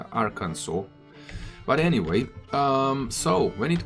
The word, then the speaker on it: Arkansas: Thanks to one guy from YouTube telling me how to pronounce Arkansas. It's Arkansas.